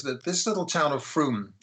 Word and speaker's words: Frome: with us is that this little town of froome it's it's written from f-r-o-m-e but it's pronounced froome in somerset is put in a place a